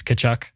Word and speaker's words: Tkachuk: ransom to get Matthew Tkachuk. The T is silent, right? It's Tkachuk. Matthew Tkachuk, yeah.